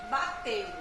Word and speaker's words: bateu: Bateu. Então, bateu tem 2 sílabas. Eu não vou falar a palavra bateu assim, ó. Bateu. Não é assim. A pronúncia é bateu. Bateu. 2 sílabas apenas.